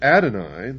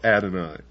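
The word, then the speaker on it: Adonai: were not God, would Adoni, the God of the Christians and the Jews,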